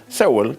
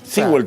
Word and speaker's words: Sewell: Sewell. Sewell, sí. Sewell también dicen los americanos, sí.